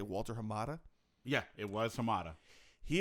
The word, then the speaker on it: Walter Hamada: name of the exact, I want to say Walter Hamada. Yeah, it was Hamada. He apparently had, you pronounced that pretty well, actually.